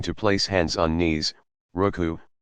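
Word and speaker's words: ركوع: place hands on knees ruku pronounced ruk oho sitting on the heels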